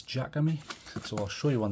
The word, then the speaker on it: Jakemy: promise this time of the Jacob me or Jacob me however you want to pronounce that I think it's Jack of me so I'll show you